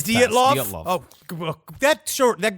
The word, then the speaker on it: Dyatlov: I think it's Dyatlov. I thought it was Oh my God. Dialtov. We're fucked. But this is the lead mass. It's Dyatlov. Dyatlov. It's Dyatlov?